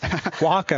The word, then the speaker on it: Oaxaca: You'll be watching from Mexico, Oaxaca.